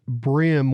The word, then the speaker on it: bream: i'm supposed to say bream or is it pronounced brim when it's spelled breem it's pronounced brim when it's spelled green really okay i see